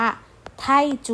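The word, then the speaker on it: 泰铢: ที่ 6 นะ คะ อ่าน ออก เสียง ว่า ไทจู ไท่ จู นะ คะ ที่ แปล ว่า เงิน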